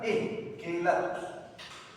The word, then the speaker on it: quelatos: Pronuncien bien siempre, ¿ya? Quelatos. No pronuncien con A, por favor.